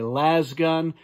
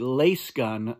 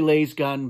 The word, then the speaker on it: Lasgun: people like to say last gun I know that Frank Herbert pronounced it lace gun I say lace gun because it's a laser gun so that's why I